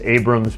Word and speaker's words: Abraham: I always say on the phone, I say it incorrectly so people spell it right, but it's Abrams, but it's spelled Abraham, so no worries.